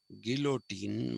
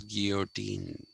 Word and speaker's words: guillotine: like common people by a guillotine which we pronounce as guillotine but it is actually supposed to be pronounced as guillotine okay um so you therefore you will find